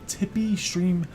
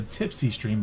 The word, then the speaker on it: Tipeeestream: is the actual website tippy stream dot-com now I I accidentally mispronounces I have this a tipsy stream but excellent but I'm making sure that I'm not saying this the wrong way as you see the